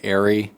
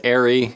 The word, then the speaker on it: ARRI: of comments saying like, I'm saying ARRI wrong and it's ARRI. I always forget. Porsche, whatever. You know what, now I'm self-conscious and we're gonna decide for the rest of this video if I'm saying it right. No, ARRI has actually never... All right, Potato Jet says ARRI and he's friends with them, so I'm gonna switch it up, ARRI.